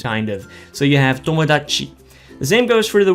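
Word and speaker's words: 友達: Now try not to say tomodachi like pronounce the chi too much.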